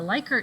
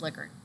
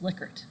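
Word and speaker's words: Likert: would call A A Liker scale it's actually pronounced liquor ask the Google I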